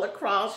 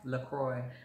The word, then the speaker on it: LaCroix: crummy okay thank you i've been calling it lacrosse and my son hit me up the other day he was like mom that's not called lacrosse you're pronouncing it wrong is what lacroix lacroix my bad y'all